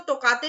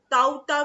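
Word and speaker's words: Tauktae: Number C, that is, इसको तोकाते भी बोल सकते हो दोस्तों आप लोग, और आप लोग इसको ताउता भी बोल सकते हो। ठीक है, इसके दोनों ही प्रोनाउंसिएशन यहाँ पर रहते हैं।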